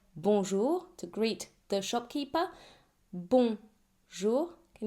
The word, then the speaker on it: bonjour: And the J is pronounced like the S in English word leisure. So no D sound here. Bonjour not bond just bonjour.